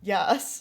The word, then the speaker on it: Jas: So, I thought that she was Jas's, or as I pronounce it, Yas.